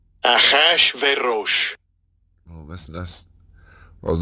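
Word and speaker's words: אחשורוש: Achashverosh. Achashverosh.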